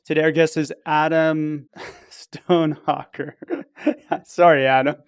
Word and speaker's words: Stonehocker: Today, our guest is Adam Stonehocker. Sorry, Adam. It's not that hard. I know. It sounds just like it's spelled.